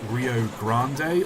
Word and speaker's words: Rio Grande: cuz it's you know it's Grand with an e on the end but then like no it's just the Rio Grand the E does nothing it's pronounced F Well